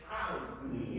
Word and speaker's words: Ali: right, okay, It should be the, Ali is with the iron. And if you notice, like, if you ever hear somebody that actually speaks Ali, right. they pronounce that iron, Ali, you know.